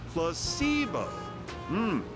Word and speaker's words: placebo: today repeat after me placeo H the stress is on the middle C very good